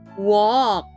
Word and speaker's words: walk: each other friends talk to each other walk w a l k let's spell that again w a l k walk read